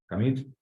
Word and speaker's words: commit: So we always say Git, and commit has a stress on the second syllable. It's not commit, it's commit. Either a verb or a noun, как глагол, так и существительное, usually pronounced commit.